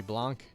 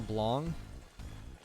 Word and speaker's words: Blanc: The voice actors all call her Blanc, like as though it was B-L-O-N-G. Not even like Blanc or Blanc. It's an interesting pronunciation choice for the name Blanc. I mean, I get softening the C, but yeah. The A to a super overpronounced O doesn't make any sense to me.